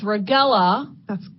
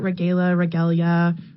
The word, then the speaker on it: Regella: But we know it's Regella Scavuzzo. That's correct. And, I get regalia, you'd be surprised.